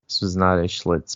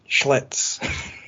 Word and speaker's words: Schlitz: This was not a Schlitz mistake.